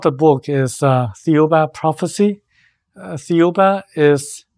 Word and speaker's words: Thiaoouba: book is theuba prophecy theuba is pronounced as the diuba in the French pronunciation and the spelling is